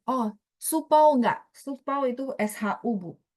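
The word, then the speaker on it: 书包: Iya, jadi supau itu pakai SHU, Bu.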